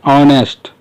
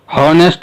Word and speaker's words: honest: इसका प्रोनाउंसिएशन है ऑनेस्ट, हॉनेस्ट नहीं है, इसकी है ऑनेस्ट।